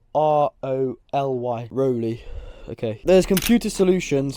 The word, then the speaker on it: Roly: How do you pronounce the name R-O-L-Y?